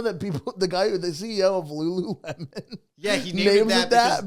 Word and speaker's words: Lululemon: Would say it wrong, and he liked how they said it wrong. They would say Ruru Remen.